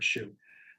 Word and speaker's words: SHU: So a shoe is a special housing unit and you know, shu and it's pronounced like you know, like footwear, a shoe, but there's certain rules